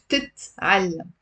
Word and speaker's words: بتتعلم: It's actually بتتعلم. It's also one of these complicated words to pronounce. Why? Because most of my students drop one of the t's.